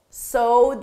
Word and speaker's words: sow: Sow the seeds, sow.